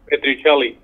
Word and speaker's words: Pestrichelli: Jay PESTRICHELLI. Did I pronounce correctly? Close it. PESTRICHELLI.